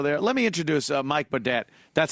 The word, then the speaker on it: Boudet: Okay, so you use the French or New Orleans style pronunciation. Nolans. Right. Boudet. That's right.